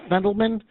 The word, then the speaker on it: Fendelman: but um speaking with fendelman uh the author is that did I pronounce that correctly yeah absolutely okay very good